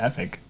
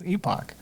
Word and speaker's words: epoch: Or there's a epic. It's epoch.